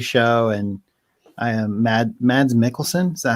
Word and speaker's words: Mads Mikkelsen: was a tv show and i am mad mads mikkelsen is that how you say his name yeah